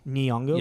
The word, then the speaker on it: Nyong'o: So I mean, there's definitely like Lupita Nyong'o. I want to say I don't know how to really pronounce her last name. Nyong'o.